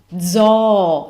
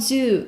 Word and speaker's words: zoo: numero sector jaw zaw it's not Zoo it's all why because we have all and vowels are always pronounced the same way so if you have two o's we just pronounce both of them so we went to